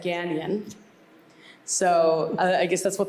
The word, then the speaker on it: Gagnon: pronunciations, and we say Gagnon. Ryan Seacrest said Gagnon, so I guess that's what the public knows now. I think the correct is Gagnon, with that French touch.